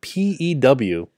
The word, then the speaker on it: Pew: Well, it's spelled P-E-W. Oh, it's like P-U. Yeah, Pugh. Oh, no, it's like pew, like a church.